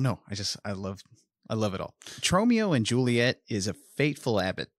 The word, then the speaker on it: Tromeo: Tromeo and Juliet. I almost said it wrong. What'd you almost say? Romeo.